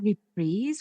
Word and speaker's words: reprise: He sings a repreeze of the lullabi, A Home for You, which convinces Meredith to allow him to go. Wait, you pronounce that repreeze when it's in song form?